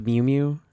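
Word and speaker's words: Mjölnir: And speaking of Captain America and the Mjolnir and the roll up, the thing it's pronounced Mew Mew, just so we're clear.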